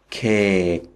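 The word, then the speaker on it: เค้ก: so the word reads K remember you don't actually pronounce the final letter and actually it's the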